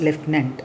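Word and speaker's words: lieutenant: n t that has to be pronounced as leftenant okay and he had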